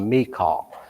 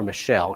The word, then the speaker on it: Michal: His wife, if you spell it out by the biblical pronunciation, is called Michal. But I'm going to use the 21st century version and call her Michelle because it's a whole lot easier to say.